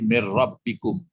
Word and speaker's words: mir rabbikum: Tidak pun dikasih tasdid membacanya kan min nun mati sambung rokat itu enggak mungkin min rabb enggak mungkin. Langsung sekali menggabung idgham. Mir. Jadi mir rabbikum.